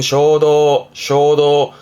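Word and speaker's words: 衝動: 뒷글자가 지난번에 했던 동자, 이게 충동이라 발음은 쇼도, 뭔가 충동적으로 행동을 하기도 하고요.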